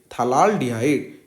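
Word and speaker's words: phthalaldehyde: हम इसको क्या बोलेंगे, थलाल डिहाइड। यहाँ पे P का जो प्रोनाउंसिएशन होता है वो साइलेंट रहता है, इसको क्या बोलेंगे, थलाल डिहाइड।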